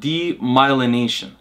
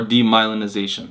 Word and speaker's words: demyelination: causes over time what's called demyelination or demyelinization there's two ways to say it i was there was a previous episode where i tried to pronounce demyelinization like 10 times then i realized you can say demyelination which is anyway so the